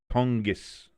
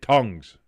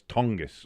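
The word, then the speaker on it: Tonges: Irish says it's pronounced tongis. Okay, cuz I look at the first thing I want to say is tongues. I want go tongues. But it's tongus.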